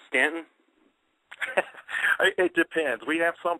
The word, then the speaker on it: Staunton: guess that's why I was calling it Staunton. But we drive coming back from Winston-Salem, going up to my family in Pennsylvania. Obviously, going up 81 there, we see Stanton. I'll use the right pronunciation there. And I have seen on,